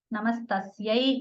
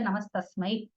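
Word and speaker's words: नमस्तस्यै: Namastasyai, instead of that, she would say Namastasmai.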